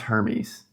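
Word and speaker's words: Hermès: And it's pronounced Hermes.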